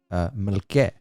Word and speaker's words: Melke: Now, Gagik Artsruni married Melke. That's how it's pronounced, and it's spelled MLK'. Yes, Melke. First, we thought it was Mike.